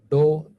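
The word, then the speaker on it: ∂: We pronounce this as dou z by dou x. And some people may read this as, pronounce this as del z by del x, like this only.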